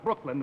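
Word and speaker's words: Brookeland: The name of the town is Brooklyn, but it's spelled B-R-O-O-K-E-L-A-N-D.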